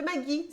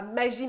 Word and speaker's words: Maggi: famille occidentale il fait mais non prononce pas magie mais magie genreant que je te c'est magie sauce magie voilà sauce Maggie très bien et ben